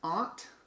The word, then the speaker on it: aunt: How do you pronounce aunt? With the vowel in ah. The vowel in caught. Aunt. Caught. Oh yeah, this would be I have the same vowel in ah, caught, and aunt.